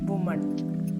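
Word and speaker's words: women: അടുത്തതാണ് ഡബ്ലു എംഇഎൻ plural ആണ് വിമൻ വിമൻ വിമൻ singular ആകുമ്പോൾ ഒരു പെണ്ണ് നിൽക്കുകയാണെങ്കിൽ നമ്മൾ പറയും വുമൺ വുമൺ അപ്പ രണ്ടിന്റെയും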